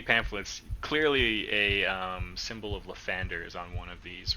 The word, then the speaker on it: Lathander: seen so many pamphlets, clearly a symbol of Lathander is on one of these reliefs. Oh, you mean Uh-huh. Lathandir? Oh, Lathandir, yes, yep. Correct. We pronounce it differently where I'm from.